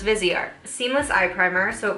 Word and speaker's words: Viseart: It's like Viseart. Viseart. It's like how you say it in French, because I thought it was like maybe Viseart or yeah, I didn't know. So it's Viseart.